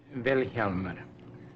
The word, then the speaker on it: Vilhjálmur: Vilhjálmur. The accent's on the first syllable.